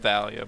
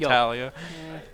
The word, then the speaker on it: Thalia: I don't pronounce that one that way. That one's just Thalia. But I think like either you or Zach said that like they hate people that pronounce it that way. That Talia.